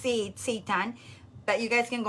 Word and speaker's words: seitan: It's pronounced seitan.